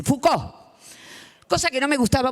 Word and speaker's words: Foucault: conocen, es ese tipo que se escribe Foucault, pero no queda bien si decimos así, Foucault.